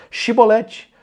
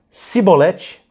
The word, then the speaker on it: chibolete: É uma espiga de grãos por essa palavrinha chibolete. Se ele dissesse cibolete, sem conseguir pronunciar corretamente a palavra, prendiam-no e matavam-no Jordão.